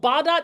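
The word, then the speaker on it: Bağdat: The last thing in my list is a neighborhood called Badot Street. Yes, there are some G's that you do not pronounce in Turkish. Turkish is fun but yeah it's called Badot Street.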